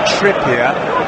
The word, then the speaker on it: Trippier: Now, Adrian Bailey says Trippier, as in more trippy. He ain't French, I know that. I've been calling him Trippier throughout the entire game, unless I might have mispronounced.